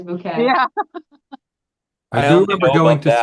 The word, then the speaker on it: Bucket: Never say bucket. It is always bouquet.